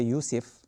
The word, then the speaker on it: Yusuf: Yusufu ayyuha as-siddiq. So it has dhamma, right? But Joseph might have affected our pronunciation in Arabic when we think Yusuf.